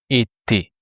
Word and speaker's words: été: We removed the RE, the R sound, and we replaced it by E, just the sound E, which makes été.